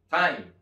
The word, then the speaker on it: thyme: toda esta palabra que nadie pensaría que se pronuncia Tan sencillo como Time muy parecido al tiempo en inglés OK Vamos a la